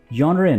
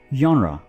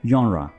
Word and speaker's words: genre: जी, receipt नहीं, receipt, genre नहीं बल्कि genre, ठीक है, genre।